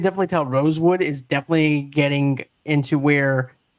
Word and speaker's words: Rosewood: He was like, no, my name is Rosewood, not Roseweed.